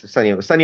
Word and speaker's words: Sonny: Vaccaro, yes, Sunny Vaccaro. It's Sonny, but it is pronounced Sunny.